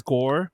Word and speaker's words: Goa: I didn't say her name, but the dominatrix girl's name is Gore. But the thing we read is Goa, so if I accidentally say Goa, I mean Gore.